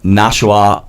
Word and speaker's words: Nashua: They're actually playing tomorrow out of the Peddler's Daughter in Nashua, New Hampshire. I am pronouncing Nashua.